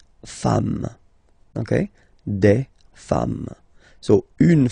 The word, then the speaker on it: femmes: and then you just add this S at the end, and as we said, you don't pronounce it, so you get des femmes, okay?